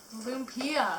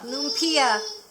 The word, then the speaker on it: lumpia: and have a taste test say it properly lumpia lumpia lupia this is our taste test and she's in